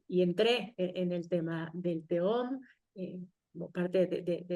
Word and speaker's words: Tehom: y me dijo, "Dalia, ¿por qué escribes la palabra teom con J?" como si fuera home, ¿no? pronunciándolo así, cuando en realidad la palabra de eh es con he dijo eso, automáticamente, yo